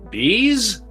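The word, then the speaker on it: B'z: Number 8 is Japan, and that is the Bees. That's right. B apostrophe Z is pronounced bees.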